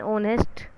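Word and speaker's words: honest: एन ऑनेस्ट बॉय, H silent रहता है, mute रहता है, चुप रहता है, बोलता नहीं है, ठीक है।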